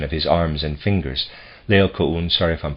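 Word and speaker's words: Laocoön: We find this situation depicted in another Greek sculpture, the death struggle of Laocoon.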